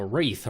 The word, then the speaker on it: Wraith: I like alliteration, so Wraith Regulator. Couldn't think of anything clever with alliteration. It's hard to alliterate with the word Wraith. At least the W is silent, so regulator works.